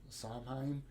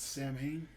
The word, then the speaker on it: Samhain: It looks like Samhain, but it's Samhain.